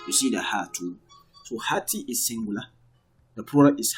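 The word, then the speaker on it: هاتي: Even in pronunciation, it doesn't really count. You don't really, because of the ya is like silent in pronunciation, but in writing, you have to write at the ya to signify that you are speaking to a female.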